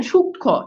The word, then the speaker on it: সূক্ষ্ম: এইবার বলা হচ্ছে, খেয়াল করে দেখেন, এইবার বলা হচ্ছে যে যুক্ত ব্যঞ্জনের সঙ্গে সংযুক্ত মফালার কোনো উচ্চারণ হয় না।